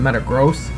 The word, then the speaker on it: Metagross: but i always said metagross for matang's evolution but technically i guess it should be metagross i read something about like it's because a gross has something to do with a unit of measurement and he's like he's